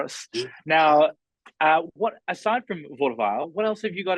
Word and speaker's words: Vaudeville: We only have one more left from your house of, how do I pronounce it again? Vaudeville. Vaudeville.